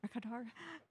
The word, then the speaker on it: Mercator: Mercator.